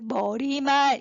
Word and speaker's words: 머리말: 그러면 첫 번째, 이 책에 그래 머리말 이렇게 발음하는 게 맞아요.